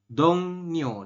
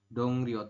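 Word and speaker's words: 동료: Jadi dongnyo dibacanya, bukan dongryo. Tulisannya seperti ini yorobun, dongryoga. Cuma kita membacanya adalah dongnyoga. Seperti itu. Saya ulangi, dibacanya adalah dongnyoga.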